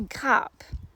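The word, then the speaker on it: grappe: and that's just that when you say cap in french it's actually a bunch of grapes it's not grape so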